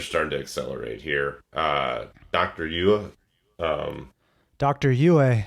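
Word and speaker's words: Yueh: Yua, Dr. Yue. Yue, thank you, correct pronunciations.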